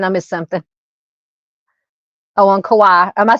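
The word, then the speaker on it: Kauai: DD says it's pronounced Kawaii. Thank you, ma'am. All right. Sounds like Hawaii but with a K.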